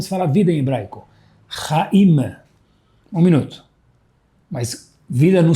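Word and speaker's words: חיים: Como se fala vida em hebraico, raim.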